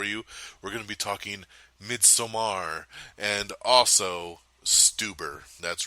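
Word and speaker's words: Midsommar: mid Samar which a lot of people are pronouncing this midsummer because that's okay it kind of reads outright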